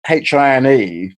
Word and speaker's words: Hine: baked beans and with my name being hae and the word for the club Patti Heinz hatch e i NZ sounding phonetically similar when I was at